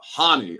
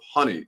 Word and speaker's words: Hani: It's uh Hanie I'm home instead of honey I'm home.